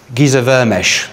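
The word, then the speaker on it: Géza Vermes: a book, this one, by a guy called Giza Vermesh. That's how you pronounce it.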